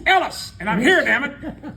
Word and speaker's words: Ellis: They'd get to my name, and it's Ellis. I said, it's Ellis, and I'm here, damn it.